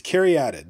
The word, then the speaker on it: Caryatid: Yes, it's Caryatid. That is how it's pronounced.